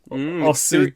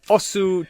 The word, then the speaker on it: Osu: I've got Osu Tatakae Ouendan. It's Os Tatakae Ouendan.